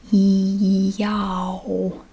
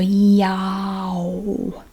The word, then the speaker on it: y'all: e basically y'all y'all you just go y'all you make that ah sound and again you don't change it you just keep that ah sound and just make your lips into an o basically y'all y'all y'all you don't